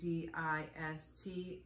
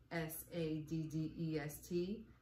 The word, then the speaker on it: sadist: what you're talking about that's a DI st not Sadd EST you know Charles one